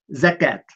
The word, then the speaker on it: زكاة: خذ مثلا الزكاة في الإملاء الحديث هو الزكاة، في الإملاء القرآني هو الزكوت، وفي الواقع الزكوت هي كلمة سريانية كتبت هكذا وتلفظ زكوت، فاحتفظوا بالكتابة السريانية ولكن بيقرأوها بالعربي زكاة.